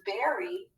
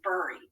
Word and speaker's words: berry: like in the word berry we expect it to the er to be pronounced er but we don't say burry do we because of that double r often that vowel has a short sound so we call it